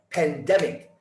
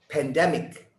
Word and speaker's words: pandemic: often mispronounced is pandemic listen to the word it's pandemic there's a rhythm to english listen to us listen pandemic pandemic pandemic go ahead